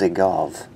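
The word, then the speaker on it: Dzagoev: I will say the D is silent, so it's Zygov.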